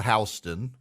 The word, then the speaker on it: Houston: Louisiana there there's a Houston County but it's called hon there's a Vienna Georgia